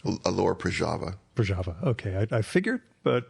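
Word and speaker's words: Lower Proszawa: city, whose name I can't pronounce. Alora Prajava.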